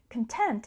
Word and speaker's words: content: syllable content and the stress on the first syllable content content is an adjective meaning satisfied so if you're